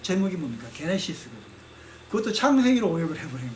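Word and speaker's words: Γένεσις: 책의 첫 제목이 뭡니까 게네시스 그든 그것도 창세기로 오역을 해버린 거예요 근데 그건 이제 그 저 영어 성경은 제대로 했죠 제네시스 이렇게 했죠 때 원래 발음은 게네시스 근데 영어식으로 제네시스가 버린 거죠 그래서 그것은 그 음력을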